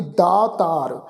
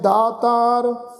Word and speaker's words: दातार: इत्थे उच्चारण करांगे जी दातार, जे को होए बह दातार, तिस देनहार जानै गावार, गावार दातार गावार, इनू गवार दतार इस ढंग नाल उच्चारण नहीं करना।